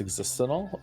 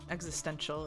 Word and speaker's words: existential: I always love the way Joe says existental. Do I say it wrong? Existential is what you might be looking for.